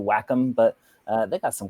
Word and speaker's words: Wacom: their name wrong like i always say wacom but everyone wants to whack em but uh they got